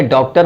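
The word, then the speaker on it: Dr.: होता है तो डीआर नहीं कहते हैं बल्कि डॉक्टर पूरा बोलते हैं लिखें डीआर जरूर लेकिन प्रोनाउंस जो करते हैं वो डी आर नहीं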